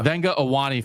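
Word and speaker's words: Vega Ioane: We double checked the pronunciation on that, and then I forgot it. Yeah. Venga Owane from Penn State and Luke Kandra from Cincinnati.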